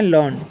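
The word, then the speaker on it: learn: तो, इसे हम पढ़ना है लर्न। क्या पढ़ना है? लर्न यानी कि र है ना बहुत कम उच्चारण करना है।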